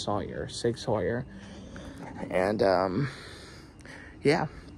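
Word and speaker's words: Sauer: 6our Sawyer it's pronounced Sawyer I I've always pronounced it sour out of habit but it's actually pronounced Sawyer Sig Sawyer and um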